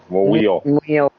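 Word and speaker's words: Muyl: And how the hell do we pronounce his name? Anybody know? Mule.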